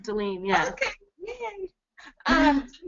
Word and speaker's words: Delane: So, Delane? Yeah, that's me. It's correctly pronounced, Delene.